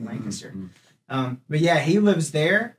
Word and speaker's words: Lancaster: this town called Lancaster, spelled Lancaster, but apparently you pronounce it Lancaster.